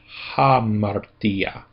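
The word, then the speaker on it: ἁμαρτία: Now we account for the fact that there is a rough breathing mark there. So we put in the h sound. So it becomes hamartia. Hamarta.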